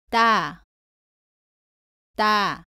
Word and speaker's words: 따: 발음은 다와 비슷한데 목에 힘을 주고 조금 더 세게 발음합니다. 공기가 입 밖으로 나오지 않도록 발음합니다. 따라해 보세요. 따, 따.